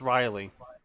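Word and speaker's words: wryly: you know we're right it is literally just pronounced riley proud welcome to the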